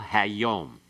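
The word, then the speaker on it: היום: All right, make certain you use the a sound. It's pathach there, okay? Hammelech, hakol, hayom.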